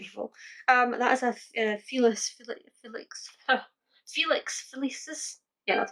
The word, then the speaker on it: Felix Felicis: That is a Felix Felicis.